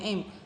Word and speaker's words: am: i-itu memakai To Be Am ini ya tulisannya am bacanya m makanya ada angin ya